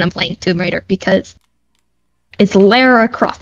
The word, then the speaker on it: Lara: It's not Laura. It's Lara. And I get to decide because that's my middle name. But it's got to have a U in it to be pronounced Laura. Otherwise, it's Lara.